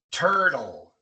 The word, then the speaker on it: turtle: Y la t también se pronuncia de esta manera cuando combinamos las últimas dos situaciones. Cuando viene entre R y L al final de la palabra, como en turtle. Turtle, tortuga. Turtle, no decimos turtle, sino turtle.